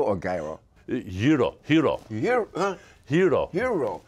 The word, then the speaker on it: gyro: I mean, I like is it gyro or gyro? Hero. Hero. Hero. It sounds like the H-E-R-O, but it's pronounced, it's spelled G-Y-R-O.